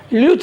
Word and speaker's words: Luche: देखोगे तो आप लोग बहुत लोग खुद पढ़ते भी होंगे लुच्चे रिडक्शन, लेकिन असल में इसका एक्सप्लेनेशन जो क्या है, ल्यूथ रिडक्शन है।